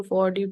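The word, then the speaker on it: fjord: इसके नीचे मेंशन है फड फड इसको आई थ फड प्रोनाउंस करेंगे एफ जे ओ आर डी सोय इंपोर्टेंट फैक्ट है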